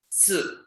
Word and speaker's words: 四: Si. Si. Not C. C. C is a wrong pronunciation. We pronounce it as si. Si.